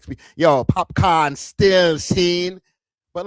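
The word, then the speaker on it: Popcaan: I understand the way that it's spelled out. It's C-A-A-N, so it would, I guess, come out as pop can, like a can of pop, right? But it's popcorn, and I'm not expecting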